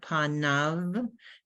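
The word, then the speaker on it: פָּנָיו: Make sure you can pronounce that. Panav. Yud Vav, Panav. the end is Av.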